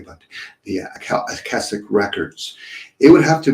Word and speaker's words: Akashic: I never know how to pronounce it correctly, but the Akashic records. It would have to be. Akashic record.